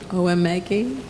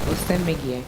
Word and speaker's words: Osemegye: Mrs. Oemegi, is that right? Close? Maybe you'll say it into the mic. I'm very sorry. It's a little difficult to pronounce. It's Mrs. Osemegye. Oh, I'm sorry. I left That's out fine. the S completely, didn't I?